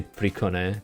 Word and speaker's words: Priconne: Is it like PRICONNE, PRICONNE? I have no idea. I most of the time just say PRICONNE because it's kind of the Japanese way.